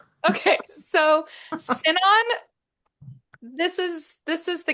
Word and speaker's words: Sinon: over the casting of Ellen Elliot Page as Sinon. I think I'm pronouncing that correctly.